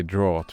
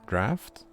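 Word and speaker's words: draught: do you pronounce that i would say drought but i'm pretty sure it's draft draft i don't know in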